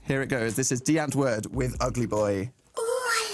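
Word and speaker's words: Die Antwoord: But now we have got the new song from Deantverd, as everyone tells me it should be pronounced.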